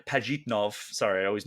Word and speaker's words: Pajitnov: the the two main Talking Heads Are Alexi pitov and or P pajitnov sorry I always mispronounce his last name and Hank Rogers so